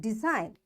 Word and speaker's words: design: Now G is there and N is after G, so this G is silent and we will say it design.